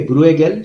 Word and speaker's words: Bruegel: estar pagado por Moscú se escribe bruegel se pronuncia en flamenco holandés entonces este sintag que parece que dice bruja bruja que es ha hecho